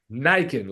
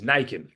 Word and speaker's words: Nican: Nican, like a N- lichen, or a Ken doll with Nikes. Nican.